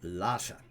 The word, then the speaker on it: Lasa: recognize the name of lhasa spelled l-a-s-a and yeah and unless of course they thought it was the capital of tibet well that is spelled differently l-h-a-s-a but would be the same pronunciation but no no the